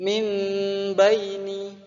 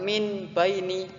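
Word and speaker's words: من بين: mimbaini saya ulangi lagi mimbaini ada huruf nun bersyukur bertemu dengan huruf ba depannya Apabila ada nun mati bertemu huruf ba maka hukum bacaan iqlab cara membacanya adalah mengganti huruf nun ke huruf mim biasanya iqlab itu ditandai ada Meme kecil diatasnya atau mungkin dibawa situ ya bang Jadi dibacanya bukan minbaini salahnya Betul mimbaini banget Nah selanjutnya ada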